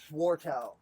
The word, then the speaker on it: Swartout: Spell it. Bajua. No, I'm Dylan. What's your last name? Swarttow.